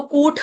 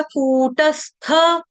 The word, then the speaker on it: कूटस्थ: ट है टमाटर वाला लेकिन गलती से बोल जाता है ठ ठठेरे वाला ठ ठन ठन गोपाल वाला तो कूठ नहीं आएगा कूटस्थ और यहां पे जो थ है उसका उच्चारण गलती से आधा त या हलंत त या तबूज वाले से कर दिया जाता है गलती से तो यहां पे तबूज वाला नहीं है यहां पे थ थरमस वाला है कूटस स्थ मचलन